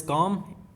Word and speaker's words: calm: You will pronounce that word as calm. L is silent.